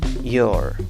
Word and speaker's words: your: cuál es tu nombre se escribe con cuatro letras y se pronuncia con tres sonidos cada opción empieza con el sonido de una guía guía seguida de una vocal y termina con el sonido de una r your york también puedes pronunciarlo